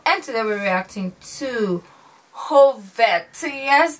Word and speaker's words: Hov1: today we reacting to whole fat so yes thank you for letting me know how to pronounce this because I was like homework 1 but anyways it so